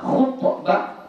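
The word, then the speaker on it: خُطبة: Knya baris kasrah. Kalau khannya baris dammah. Khutbah itu artinya apa?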